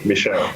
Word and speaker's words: Michelle: that is my name michelle the french one the first one i just wanted to